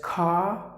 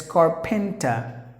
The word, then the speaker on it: carpenter: We will talk about that in the future, but just imagine that any word ends with the letter R, it is silent.